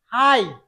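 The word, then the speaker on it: high: যদি কোনো ওয়ার্ডে আই, জি, এইচ এই তিনটা একসাথে থাকে, তাহলে এই তিনটা মিলে উচ্চারণ হবে আই।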